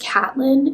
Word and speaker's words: Catelyn: I probably least enjoy Caitlyn's chapters or I think it's pronounced Catelyn in the show.